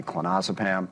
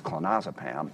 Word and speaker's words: clonazepam: I'm incredibly happy after going through my clonazepam. By the way, that's one of the great things about doing the audio book. I learned that it's clonazepam, not clonazepam.